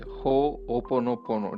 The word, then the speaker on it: Ho'oponopono: Yeah, it's you can break it into three parts, I would say. So Uh-huh. Ho'opono, and then pono. Ho'opono. So it's an Hawaiian word.